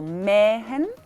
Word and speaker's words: mähen: La H, por ejemplo, mähen, cortar, es me, largo, y Päckchen, ¿no?